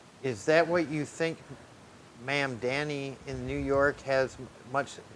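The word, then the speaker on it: Mamdani: Ma'am Danny. How do you say that? Is that right? Ma'am, it's ma'am. Ma'am Danny, a new generation of leadership.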